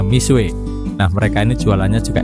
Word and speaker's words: Mixue: booming belakangan ini adalah merek misua tulisannya mix UE saya agak kesulitan pertama membacanya tapi setelah cari tahu ternyata bacaannya misui nah mereka ini jualannya